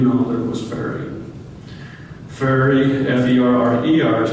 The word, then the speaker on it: Ferrer: Ferry, F-E-R-R-E-R, is pronounced Ferry.